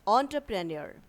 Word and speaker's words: entrepreneur: The right way of pronunciation is pizza. The third word is entrepreneur, the person who runs his own business.